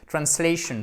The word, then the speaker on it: translation: Translation, pensez bien à la diphtongue.